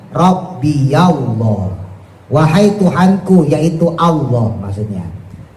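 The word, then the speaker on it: ربي الله: Nah, berhubung ketemu alif lam, maka dia enggak bisa dibaca rabbillah, enggak bisa. Makanya harus diberikan harakat fathah, harakat yang paling ringan. Makanya dibacanya rabbiyallah, wahai Tuhanku, yaitu Allah.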